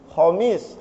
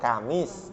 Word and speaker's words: Kamis: Khomis, kho, tapi jadi ka, kamis, bukan khomis ya kan.